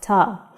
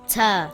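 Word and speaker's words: تاء: not be pronounced heavy in english it sounds like the letter t like in the word taxi or the word tank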